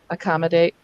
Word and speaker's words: accommodate: And eventually, often we have to just tell kids where to switch syllable to stress. Eventually, we can say, you know what, the ac and the com are actually prefixes. We rarely ever stress the prefixes. So let's stress the first syllable after that.